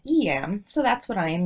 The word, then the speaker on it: Eyam: it "E-M," but also "I-M." Recently, I read an interesting article that insists it should be pronounced "Eem." But those who have been there, tend to call it "E-M."